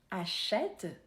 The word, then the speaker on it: achète: un e bien prononcé attention pour ne pas mélanger les deux par exemple achète est différent de acheter préfère est différent de